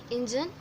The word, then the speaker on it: engine: Engine, in the first syllable you have to pay the focus or you have to pay the stress, and in the second